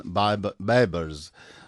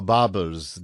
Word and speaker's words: Baibars: In today's program, we're going to talk about a great warrior and a great sultan, Sultan Baibars, or Baburs, depending how you say it, a Turkish legendary figure from the Mamluk Sultanate of Egypt.